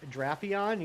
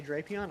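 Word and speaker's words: Drapion: Drape supposed to be uh with a shirt a short a like draion. You say drapeon.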